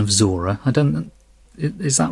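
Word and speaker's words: Zhora: Blade Runner correct I wasn't sure about the pronunciation of Zora I don't is that right am I saying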